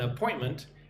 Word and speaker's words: appointment: Have you made an appointment at our spa? Look at the word appointment. Listen and repeat after me. A-point-ment. Appointment. Put the stress on the second syllable.